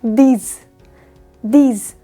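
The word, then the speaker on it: dix: 10 यानी 10 को बोला जाता है दीज।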